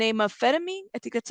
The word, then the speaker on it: phentermine: listen get together uh Phentermine that's how you say it the pH pH thank you if she